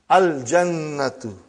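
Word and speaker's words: الجنة: Brother, you will pronounce lam. Al-jannatu. The garden.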